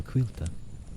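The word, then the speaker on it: Caoilte: name is Quilta. Quilta. Yes, the C-A-I-L-T-E is pronounced Quilta. Sort of like wheel, but pronounced with a Q. Quilta. Quilta. The emphasis on the wheel part.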